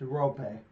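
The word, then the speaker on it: Roope: Rupe Hintz, 11 goals, 3 assists. And then Joe Pavelski, 7 goals, 7 assists. Just for future reference, it's pronounced Rope.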